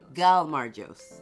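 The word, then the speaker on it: gaumarjos: something uh in Jordan how do you say cheers gal margos like get like gal gal marches there is correct well thank you guys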